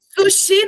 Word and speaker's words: sushi: Sushi. Sushi. Adorei. Sushi não dá. Por quê? Porque o chi vai ter um som mais forte. Aí fica sushi, sushi.